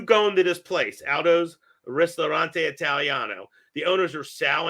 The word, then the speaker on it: Ristorante: Now, is that the pronunciation? Aldo's Ristorante Italiano? Yeah, Ristorante.